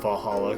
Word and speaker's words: VA-11 Hall-A: called va- Hall d a good thing it's actually called Valhalla cuz I just say